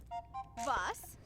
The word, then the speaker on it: was: Vos. Vos. Note, this is pronounced vos and means what in German.